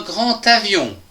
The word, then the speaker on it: grand avion: Dans la première phrase, nous pouvons lire un grand avion. Attention, ici nous avons une liaison des A qui se prononce T. Un grand avion.